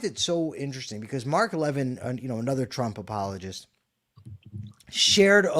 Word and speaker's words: Levin: And, I find it so interesting because Mark Levin, another Trump apologist, shared a Laura Loomer. Mark Levine? Yeah, Mark Levin. What did I say? Levin. It is. It's Mark Levin. Mark It's Levine. not Levine.